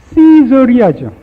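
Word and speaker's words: Caesarea: 가이사랴라는 건 발음 그대로 시저리아죠.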